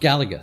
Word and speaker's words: Galaga: Is that how you pronounce Galaga. it? Galaga.